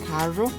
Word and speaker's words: carro: Either we pronounce it like R, like as in car in English and carro in Spanish, or like R, as in tap D or T in English, and caro in Spanish.